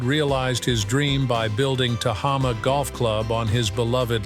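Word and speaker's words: Tehama: Tahama, pronounced Taha, combines golf elegance and natural beauty, nestled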